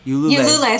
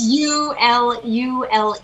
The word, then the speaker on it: Ulule: Ulule. So it's Ulule. It's initially French, so really it's Ulule.